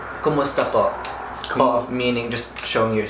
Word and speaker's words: po: kumusta po. Bo. Mhm. Kumusta bo. Po. Po. P-O. P-O, okay.